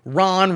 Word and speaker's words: Ron: Vivek, again rhymes with cake, all candidates should do this, is, according to some polls, currently tied with Ron rhymes with Tron, Spawn, or Juan DeSantis, who at one time was considered a possible heir to Donald Trump's very classy throne.